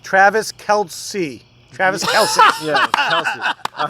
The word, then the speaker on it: Kelce: All right, I'm going to take this player just because I need to pronounce his name correctly and redeem myself. Travis Kelce. Travis Kelce. Yeah, Kelce.